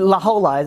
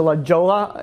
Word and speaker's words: La Jolla: You know, like, the whole silent letters, I didn't, you know, didn't really. It's L-A-J-O-L-L-A. J-O-L-L-A. But it's not silent. It's Spanish.